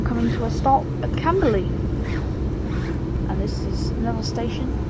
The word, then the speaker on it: Camberley: Because its station sounds like, because when you say early, it sounds like E-R, but not E-A-R. Or Camberley anyways. As I'll say, it sounds like E-R, early. But it's spelled with A.